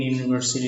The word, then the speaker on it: university: U in university is pronounced like U. U is not a vowel sound, it is a consonant sound.